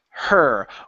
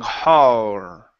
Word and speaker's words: her: saying ho okay so instead of an O go to an ER her with her hands with her hand with her her hand okay you're almost there okay don't pronounce an O you're saying har okay her her yeah that's it with her